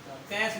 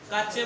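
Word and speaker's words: cache: ठीक है भाई, कैश मेमोरी। जब इसको हम गलत प्रोनाउंस करते हैं तो कुछ लोग कैश बोलते हैं, कुछ लोग काचे बोलते हैं, कुछ लोग चाचे बोलते हैं।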